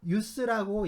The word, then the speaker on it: ius: 네, use, ius, jus 라고 쓰고 다 use라고 읽어요. 이 use를 번역한 말입니다.